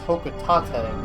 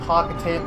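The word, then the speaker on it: Hocotate: I hear read have read that it's actually pronounced hok Tate but I've been called a cocka tan my entire life and I probably won't stop Planet hok Tate there you go just in case H Freight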